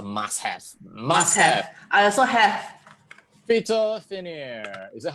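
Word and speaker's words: Phytophanère: I also have PHYTO Finnair. Is that how you pronounce it?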